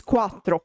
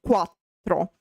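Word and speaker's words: quattro: And of course um while in English four is a one syllable word in Italian it is not because it has two syllables. In fact it is quatro quatro.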